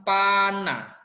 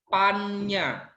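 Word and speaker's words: paññā: Bacanya bukan Pana. Ini bacanya bukan Pana, tapi membacanya adalah Pannya.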